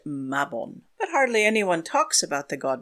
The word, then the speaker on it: Mabon: The American Wiccan holiday of Mabon was born, but the Welsh deity is definitely pronounced Mabon.